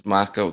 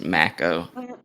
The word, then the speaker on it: Mako: At the early scenes, Raleigh says Macco correctly, but in the last few scenes, he consistently says Maco.